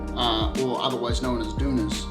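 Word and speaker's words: tunas: prickly pear halves uh or otherwise known as dunas spelt like tuna fish but it's pronounced tuna i like it like it's got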